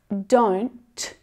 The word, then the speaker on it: don't: Sometimes my students say to me, but Emma, I can't hear that T. It's not there. Well, that's not true, because without that stopped T sound, that nasally N sound continues for longer. Don't. Compare that to don't. Don't. So that sound is stopped short. That's your stopped T sound.